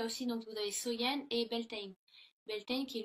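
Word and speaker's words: Samhain: de l'année donc était samen donc qui est prononcé qui se prononce Soyen.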